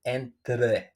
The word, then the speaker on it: entre: Remember, put your tongue in the middle of the teeth, the front teeth, so you will pronounce it entre, entre, between.